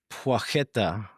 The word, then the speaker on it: Płacheta: Shimislav Pueta. Uh, I'll take it. Apparently the the P L with a line through it, it's like a W sound and then the CH